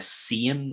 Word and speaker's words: Cian: So for everyone else, it feels like it should be a Cian or something like that, like to have the I after the C. It would never be a hard C. You should spell it with a K, for example.